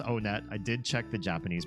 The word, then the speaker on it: Onett: kidding it is pronounced onet I did check the Japanese pronunciation and in Japanese when you go to this first town they pronounce it onetto onetto so oh